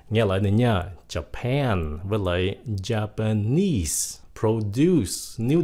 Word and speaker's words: Japan: ví dụ nữa nha chữ này là Japan Japan nhấn âm 2 mà Cái chữ Japanese nhấn âm 3 nghe lại này nha Japan với lại Japanese produce Nếu động từ nhấn